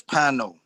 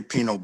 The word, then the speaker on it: Pino: my name is that's we pronounce it as pino um most people i guess from puerto rico or whatever they say pinot but here in south